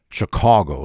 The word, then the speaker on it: Chicago: explain to you how I came in Chicago Chicago is the locals pronounce it how I came to share a